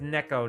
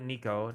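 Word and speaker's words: neko: I remember that story I think it's Neco not Nico Neco niik boy you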